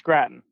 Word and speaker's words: Gratton: is that how you say it yes it's Gratton okay usually people pronounce it like potato usually we get grafting